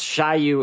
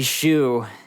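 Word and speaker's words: Shyu: make is that I use name is not pronounce shy you it's supposed to be Xu yep it's supposed to be Xu yeah that's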